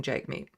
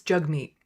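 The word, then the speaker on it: Jagmeet: jug meat's name right he keeps on saying jug meat it's jug meat he has it in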